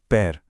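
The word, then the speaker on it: père: जब भी यह एक्सेंट दिखे तो इसका उच्चारण इंग्लिश के इएच जैसा होगा जैसे गेट या बेड में होता है।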